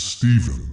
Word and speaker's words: Stephen: Yes, it's Steven and it's spelled S T E P H E N.